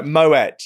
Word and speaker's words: Moët: No, Moet. You do actually say Moet. You don't say Moët.